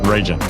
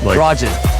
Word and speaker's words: Rajan: It sounds like R-A-J-I-N. Rajan. Okay, awesome. So joining us today is former Marine Corps and now serial entrepreneur, Rajan. I said it wrong again. You sure did. Rajan. Like R-A, like Raj, in. Raj, in.